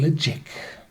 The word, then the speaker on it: Ledaig: The name pronounces quite weird, so it's called in a Gaelic way Ledaig. In English pronunciation would be Ledaig or Ledaig.